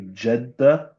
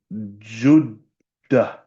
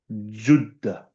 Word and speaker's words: Jeddah: We say Jeddah. The proper pronunciation from the time of the old Arabs is Juddah. Juddah.